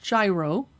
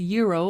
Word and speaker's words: gyro: empanadas mediterranean gyro sandwich notice it's not pronounced gyro americans have a problem with that it's a gyro or hero sandwich mini pizzas cute grilled